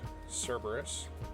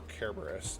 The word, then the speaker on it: Cerberus: skeleton dog we have cerberus or kerberos depending on how you like to pronounce it and then we have